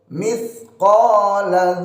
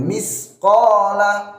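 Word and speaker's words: مثقال: Lanjut mithqala dzarratin. Nah, ini pakai ta, jangan pakai sin, jangan misqala.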